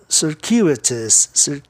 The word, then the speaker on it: circuitous: Circuitous. A sílaba tônica fica no U, DCU, tá? Aí o ditongo UI passa a ter o seguinte som, circuitous. O U tem um som de U depois do C, né?